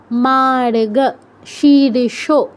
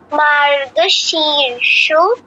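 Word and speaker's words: মার্গশীর্ষ: না ভুল বলছো দেবস্মিতা মার্গ রিফটা খেয়াল করতে হবে মাগার রিফটা যেখানে আছে তার আগে র টা উচ্চারণ হবে মার্গ শীর্ষ মার্গ মার্গ শীর্ষ ঋতুং হ্যাঁ শুধু না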